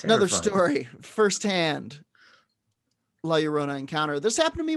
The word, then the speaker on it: La Llorona: The legend of La Llorona, pronounced La Llorona, thank you.